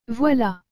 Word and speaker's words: voilà: et le mot voilà vous avez aussi remarquer que la lettre v suivi de la lettre o et enfin de la lettre i doit se prononcer voix et que la lettre elle avec le à se prononcent là donc toutes ces lettres ensemble donne voilà nous verrons dans la prochaine